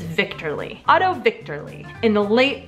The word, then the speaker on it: Wichterle: They don't pronounce W's, so I'm thinking it's Victorly.